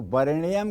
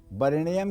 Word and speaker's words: वरेण्यम: तो इसलिए जब आप जप करेंगे तो वरेण्यम के जगह वरिणियम करेंगे, ये ब्रह्म पुराण में लिखा हुआ है। वरेण्यम की जगह वरिणियम करेंगे। लेकिन अगर आपको किसी को मंत्र सुनाना है या उच्चारण करना है तो वरेण्यम कहेंगे। यही लिखा हुआ भी है, वरेण्यम लिखा हुआ है, लेकिन जप करते समय एकारो जायते इकारः, वरेण्यम वरिणियम हो जाएगा।